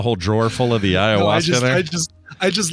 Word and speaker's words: Ayahuasca: Ayahuasca. Well, you knew that real quick. You knew that real fast. Yes, I sure did. That's my middle name. Oh, got a whole drawer full of the ayahuasca there.